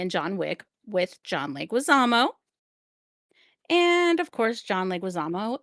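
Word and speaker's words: Leguizamo: And the cast featuring uh Stephanie Beatatrice, that's Mirabel, Diane Guerrero, Jessica Darrow, John Leguisamo, I think. Did I say that right? That is exactly how you say his name.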